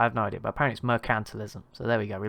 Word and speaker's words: mercantilism: other day and i've learned that i've been pronouncing it wrong the whole time so i i was just calling it mercantilism but apparently it is now forgotten how to say mercantilism like emphasis on the can't so sorry about